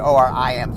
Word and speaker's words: Orim: And then we realized people were mispronouncing her name, so we changed it to Orim to be easier to pronounce. Because with Oram, people weren't all pronouncing it the same, but we changed it to I.